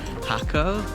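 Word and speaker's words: Jacó: also sees them in Hako, also like it's spelled like Jacko, and that they are in almond trees, which they are because they love eating almonds.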